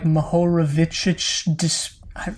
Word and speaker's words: Mohorovičić: Yeah, it's short for Mohorovičić discontinuity or something. It's some guy's name that I don't know how to pronounce because it's Czech.